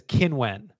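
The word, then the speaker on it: Qinwen: And her name is Qin Wen. That's how you say it.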